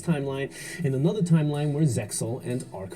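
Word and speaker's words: Zexal: Uh, Yu-Gi-Oh Zeal is the original Japanese pronunciation, but in the dub it is pronounced as Zeil, which is what I will call tomato tomato.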